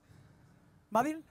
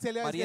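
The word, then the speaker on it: Marietta: ¿Madil? No, Marieta. Es que habla inglés. Marieta es Marieta, otro, ¿verdad? ¿Cómo se dice, mijo? Marieta, Oklahoma. Marieta.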